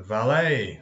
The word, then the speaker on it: valet: to March and the valet so French wars we don't pronounce the at valet like a ballet buffet just a member